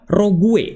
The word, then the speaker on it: rogue: Jadi ya sudah teman-teman jangan pernah instal ini karena ini adalah row rogue dibacanya atau ditulisnya adalah rogue dibacanya adalah rog yang artinya adalah antivirus yang menyamar.